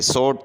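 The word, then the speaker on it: sought: इसके बाद है सोट, तो इसमें डब्ल्यू जो है ये साइलेंट है।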